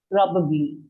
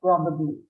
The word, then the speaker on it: probably: The stress is on the probably. Yeah, probably. Probably. Ma'am, nostalgic means, ma'am? 1 minute, Abhay, I'll come to you. Shima, probably. Yeah, ma'am. Probably. Yes, perfect. The stress is on the first syllable, probably.